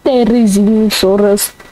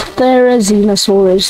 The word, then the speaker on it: Therizinosaurus: I think people pronounce his name wrong, like Therizinosaurus. It's Therizinosaurus, it's not that hard.